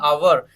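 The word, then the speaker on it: hour: पढ़ेंगे one over बोलेंगे इसको क्या बोलेंगे वन अवर हा ओ यू आर तो यहां पे हा हमेशा क्या राहत है अवर में साइलेंट राहत है okay O यू आर अवर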